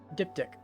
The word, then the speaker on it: diptych: How do you pronounce that? Diptych. Diptych.